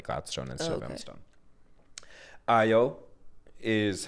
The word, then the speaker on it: Ayo: Ayo is how you pronounce the black girl on the bear.